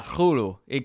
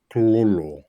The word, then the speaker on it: Cthulhu: Yeah, Cthulhu. The C and the T are pronounced at the same time. Cthulhu.